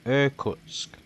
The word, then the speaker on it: Irkutsk: have one other plane here called, let me pronounce it correctly, Irkutsk.